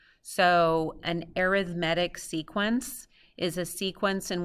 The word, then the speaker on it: arithmetic: see this word right here and we think arithmetic but it's actually pronounced differently it's arithmetic so an arithmetic sequence is a sequence in which the difference